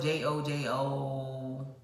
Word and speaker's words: jojoba: This is jojoba oil. It's also listed on my acne thing. It's spelled Jojoba, I believe. But it's pronounced jojoba oil.